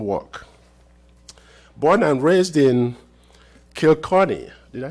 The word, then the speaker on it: Kilkenny: Born and raised in Kilkenny, did I say it right? Kilkenny? Yeah, Kilkenny, a medieval town in southeast Ireland, Sister Britt O'Shea moved to California in 1974.